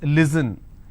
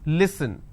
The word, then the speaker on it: listen: if i have the word listen they pronounce this as listen it's not listen it's listen they and the mistake